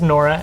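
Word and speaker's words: Nwora: I think the W is silent. Yeah, I think it's Nora out of 99.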